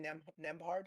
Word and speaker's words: Nembhard: Siakam and I always get his name wrong, but Andrew Nembhard. Oh, Andrew Andrew Nembhard. He Nimhard.